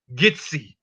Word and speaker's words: Kissi: So they are attributing the word Kissi, the Kissi tribe, pronounce it as Gitsi, the similarity of Kissi.